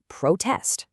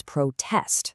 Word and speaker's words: protest: When the stack of crosses is highest on the first syllable, we say protest, the noun. But if we shift the tallest stack to the second syllable, it becomes protest, the verb.